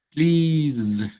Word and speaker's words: please: Please. Sí. Uno cree que es please, please, please con una s sencilla, pero esta s se vuelve z.